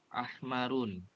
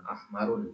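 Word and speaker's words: أحمرُ: Ahmarun. Asfarun. Ahmaru. Asfaru. Akhdaru. Ya, perhatikan ya. Tiga ini tidak ada tanwinnya ya. Ahmaru, asfaru, bukan ahmarun ya.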